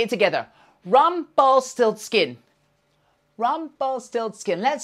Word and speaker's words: Rumpelstiltskin: help me remember it it's Rumpelstiltskin four syllables okay let's try it together rum ball still skin let's say it together Rumpelstiltskin Rumpelstiltskin let's say three times really quickly Rumpelstiltskin Rumpelstiltskin Rumpelstiltskin well done